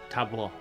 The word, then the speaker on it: tableau: Paula. But I'm not doing that. Yes. It's pronounced tableau.